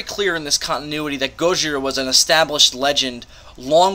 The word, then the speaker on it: Gojira: And, or Gojira, as it's said in the book, and of course how it's said in the movie. That's the proper Japanese way to write Godzilla. Gojira.